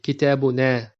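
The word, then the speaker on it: كتابنا: And the last form of the dhamir muttasil is our book, which in Arabic would be kitabuna. So the dhamir is na with elongated a sound.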